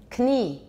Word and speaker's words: Knie: And the German word for knee is? How do they say it? Knie. They keep it. We have the same. We come from the same original language, not we. Our languages go back to the same original language. So Proto-Germanic, we had a kn sound that was actually pronounced. The k got dropped later in English, but the Germans kept it. So they say knie, we say knee.